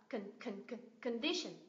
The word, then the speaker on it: condition: Hai âm còn lại này đều là schwa sound. Condition, condition.